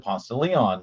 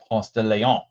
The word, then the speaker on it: Ponce de Leon: It's a road here in Atlanta, Ponce de Leon, and we pronounce it Ponce de Leon, not Ponce de Leon.